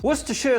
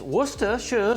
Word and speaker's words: Worcestershire: Worcestershire sauce. God, that's how you say it. I know it. It's Worcestershire sauce.